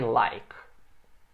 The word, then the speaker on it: like: E o que a gente vai ver agora é I like. Também a letra E aqui não pronuncia, só o K muda ali.